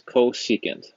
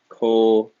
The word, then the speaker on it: cosecant: The first one is cosecant. So you're going to write CSC. That is the reciprocal of sine. And again, that's pronounced cosecant.